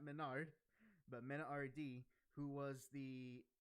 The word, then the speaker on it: MenaRD: To recall your memory, it was Angry Bird, who was the Ken player, and what I've come to learn is pronounced Mena RD, not Menard, but Mena RD, who was at the finals the Luke and Blanca player.